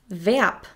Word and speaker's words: Verb: Now I'm going to give you some examples of foreign words that we use in the German language that start with the letter V, which are pronounced like the English V. Das Verb, the verb.